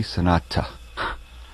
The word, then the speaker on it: sonata: so totally suited the sonata allegro form but this is the last sonata or to be pronounced properly sanata that beethoven would use